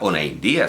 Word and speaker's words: Onaindía: uno ve una india y sabe que se pronuncia onaindía sabe que en euskera